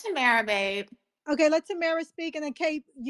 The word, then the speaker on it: Tamara: Yeah, it's Tamara, babe.